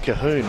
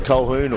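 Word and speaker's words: Colquhoun: during the week that it's pronounced kahun we thought it was koun or Calhoun but his dad actually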